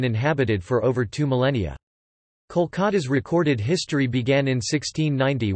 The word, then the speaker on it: Kolkata: Kolikata, although the city's name has always been pronounced Kolkata, Kolkat, the Bengali, Kolikata or Kolikata, Klikat, the Bengali, Kolikata in Bengali.